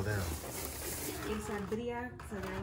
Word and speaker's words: quesadilla: Quesadilla, so they're like birria quesadillas.